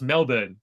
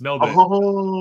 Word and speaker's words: Melbourne: it I'll do it politely apparently Melbourne it's pronounced Melbourne so this is Melbourne burn okay yes what I'm saying no no burn Melbourne what do I saying Melbourne it's spelled Melbourne it's annoying but it's Melbourne I never I never knew that no Melbourne